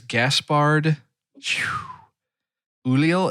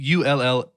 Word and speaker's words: Gaspard Ulliel: And I really want to be able to pronounce his name correctly. He's French. It is Gaspard Ulliel. It's Ulliel, and I should have looked up on how to pronounce that.